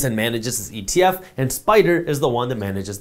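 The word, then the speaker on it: SPDR: manages this ETF and spider is the one that manages this by the way just so you know spider is spelled s PD now when we talk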